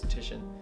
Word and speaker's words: Titian: Looks like it's spelled Titan, but it's Titian.